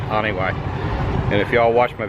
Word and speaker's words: Janiuay: cabatuan it's called onw it's spelled like January without the r but they call it Anway and if yall watch